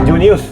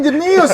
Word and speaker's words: Junius: Junius. Junius. Oh, Genius beban banget tuh gua. Terdengar cerdas tuh gua. Jangan. Anjir, gua selama ini bacanya Jenius lu. Junius aja.